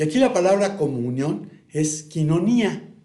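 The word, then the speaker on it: κοινωνία: Y aquí la palabra comunión es quinonía, que le dicen coinonía, pero se pronuncia quinonía, que significa participación compartida, compañerismo íntimo.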